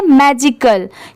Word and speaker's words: magical: मैजिकल, क्योंकि यहाँ पर लास्ट में AL भी यूज हुआ है। तो आप इसकी स्पेलिंग याद कर लीजिए, MAGICAL, मैजिकल।